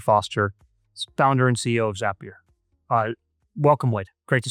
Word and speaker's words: Zapier: Uh, Zapier makes you happier. That's the trick.